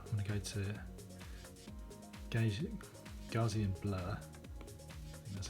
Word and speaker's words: Gaussian: i'll do that i'm gonna go to gauge gaussian blur that's how it's pronounced okay and then if i swipe across